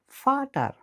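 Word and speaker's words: Vater: জার্মানে ভি উচ্চারিত হয় ইংরেজি এফ এর মতো করে, যেমন ফাটার মানে বাবা, আর ডাব্লু উচ্চারিত হয় ইংরেজি ভি এর মতো করে, যেমন ভাসার মানে পানি।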